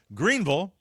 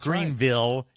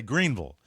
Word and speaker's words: Greenville: big loyal following myself included hi everybody now Greenville and that's how you pronounce it not Greenville you say Greenville Greenville has an unofficial Mayo guide which includes